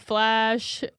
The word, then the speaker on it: Flasch: to go buy flash which is my birth last name so oh fun fact spelled the same way f-l-a-s-c-h so it's a German